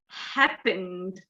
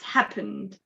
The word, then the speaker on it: happened: case this is pronounced happened so you don't pronounce the the e is silent so it's happened all right uh awesome